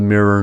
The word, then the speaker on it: mirror: desirable mirror nror merger in standard American English mirror and nror rhyme as both are pronounced with the roled vowel IR originally one was pronounced with I and the other with e this merging of high